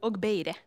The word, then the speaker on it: Ogbaide: So Efe Ogbaide from Finland, who is the founder of FEMA, pronounced it correctly, I think. Good, wasn't sure about the double M. Ogbaide.